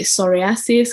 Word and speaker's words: psoriasis: used to call it psoriasis because no one knew that the p is silent and all of that